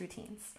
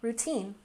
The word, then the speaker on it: routine: And finally, routine. Stress the second syllable. Routine, routine.